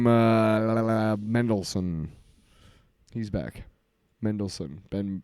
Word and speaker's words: Mendelsohn: Mendelsohn. He's back. Ben Mendelsohn.